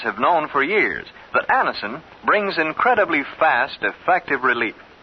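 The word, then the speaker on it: Anacin: dentist thousands of people have been introduced to Anison this way try Anison yourself the next time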